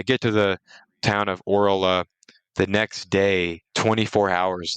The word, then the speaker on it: Orla: I might be pronouncing that wrong. It's Orla, if anyone's curious.